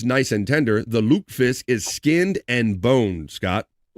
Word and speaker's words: lutefisk: Despite its taste and smell, many diehard Scandinavians still eat lutefisk. I'm trying to say it right. I'm trying to say Luke, not Luke. Lutefisk.